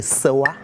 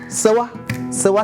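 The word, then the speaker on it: Séwa: Bien sûr, Sewa, différent de Sewa. Sewa s'écrit S, E, accent aigu, W, A. Sewa, sage des sages à l'allure des dieux.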